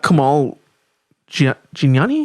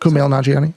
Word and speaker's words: Kumail Nanjiani: It's really long and It's got Kamal Gianni. How do you spell it? Kumail Nanjiani.